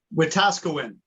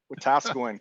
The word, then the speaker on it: Wetaskiwin: How do you pronounce the right answer? Wetaskiwin. Wetaskiwin, Camp Wetaskiwin is the correct answer.